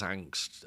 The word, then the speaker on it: Angst: I think in his native Danish it's Angust but in German it's angst.